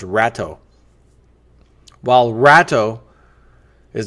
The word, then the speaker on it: Rato: While Rato sounds better to me, like a rat jumping ship. We're going to pronounce that as Rato.